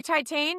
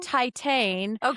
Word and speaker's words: Titane: Oh, you don't say Titan. Titane.